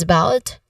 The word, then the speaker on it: about: Also in about, the stress is on the second syllable. In this particular phrase, the stress is on about. In the second syllable of about, which is about, and then the first syllable is a schwa sound, right?